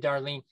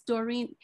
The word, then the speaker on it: Doreen: And Darlene, I always mispronounce Doreen's first name every day. Every day you say it's Doreen. My name is Doreen, but you do it